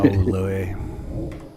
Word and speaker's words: Louis: It's funny that his name is spelled like that, and you got like Louis C.K. Right. But I always call him Lewis because, I think that's what he calls himself, right? But they're spelled like the same, so how would you ever know?